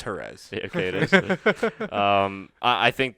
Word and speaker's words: Jerez: Jerez, Get my Spanish pronunciations correct. I was there. It's Jerez.